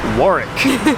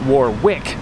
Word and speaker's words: Warwick: beautiful sunny town of warwick originally we were pronouncing it war wick but it has been explained to us that the town's true pronunciation is warwick or work the agenda for today